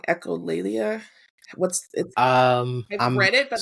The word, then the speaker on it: echolalia: anything um the um echola I'm saying it wrong echolalia what's um read it